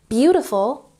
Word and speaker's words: beautiful: Beautiful has the emphasis on the first syllable.